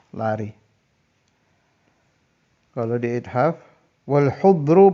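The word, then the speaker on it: حُضْر: Kalau di ithaf wal hudru bid-dhammi was-sukunid dhad. Jadi haknya dhammah, hudru.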